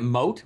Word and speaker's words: Moat: to pronounce that company I've never known whether it was mo core Mucor mock isn't it moat with atty moat as in the moat between you and your patience yeah um the all